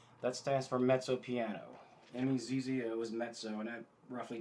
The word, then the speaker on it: mezzo: M-E-Z-Z-O is mezzo, and that roughly translated means medium. And piano, it's spelled just like piano at your house, just piano.